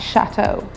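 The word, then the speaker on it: château: EAU is pronounced O in French, so it's pronounced chateau. Sometimes you will see the word chateau spelled with an X at the end. It is still pronounced chateau.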